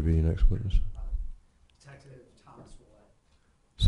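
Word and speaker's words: Ouellette: spell it actually uh my name is detective wette of the Raleigh Police Department wette is spelled o u e l l e tte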